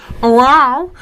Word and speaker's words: UAU: This is wow. However you say it. It's spelled UAU. Wow. Sounds like a cat, but this is spectacular.